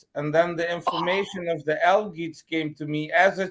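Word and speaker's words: Algiz: Algids.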